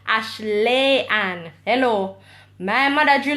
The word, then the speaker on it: Ashleigh: Sunday May 19 Wow hi how do you pronounce your name - my name is pronounced Ashley and hello my mother